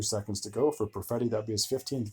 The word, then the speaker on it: Perfetti: And can you pronounce that one? Cole Perfetti.